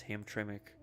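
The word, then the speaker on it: Hamtramck: I got to remember how to pronounce that. It's Ham Tremik.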